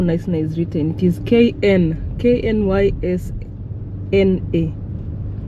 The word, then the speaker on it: Knysna: Knysna. Have you guys seen how Knysna is written? It is Knysna. The K is silent. Knysna.